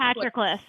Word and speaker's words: Patroclus: Patroclus, is that how you say that? I read it in a book. That doesn't mean I know how to pronounce it. It's Patroclus.